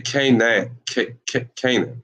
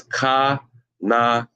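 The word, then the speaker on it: כנען: And this, look, if you look at this could be pronounced in English Canaan as well, Canaan as well, you see. But that is not. Remember, we're pronouncing this in Hebrew, so that is Ka-na-ain. Ka-na-ain. That's how you pronounce that.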